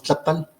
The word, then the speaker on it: tlapal: Y como verán ustedes que la melodía, la intensidad melódica siempre en el náhuatl, siempre es en la penúltima sílaba de la palabra. Entonces si decimos tlapal, se escucha la intensidad melódica en la A, tlapal. Y si decimos tlapatl, tlapatl, está en la segunda A.